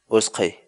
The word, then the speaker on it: utqhay: series videos where we teach you how to pronounce certain words in Quechua so our word of the day for today is was clay was clay was clay in English the Quechua